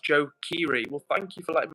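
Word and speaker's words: Joe Keery: So, guys, Eva says, Edward, guys, I just died for a second when Edward said Joe Kerry. Not being mean, it's pronounced Joe Kiri.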